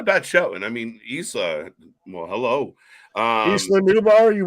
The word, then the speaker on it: Isla: Isla and Alba. Isla. Don't say the S. You know, it's a silent S. It's Well, a get that silent S S.